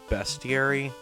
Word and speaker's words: bestiary: I think it's pronounced bestiary, because it's like all the opponents that you have bested or defeated so far.